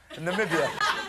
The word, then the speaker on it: Namibia: it's not pork he told a court in Namibia um that's how it should be pronounced actually uh I went mad M with